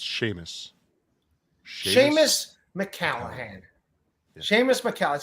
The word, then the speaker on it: Seamus: see Miss McAllen clearly a potato that it's pronounced Sheamus Sheamus mccallaghan Seamus Macau it sounds like a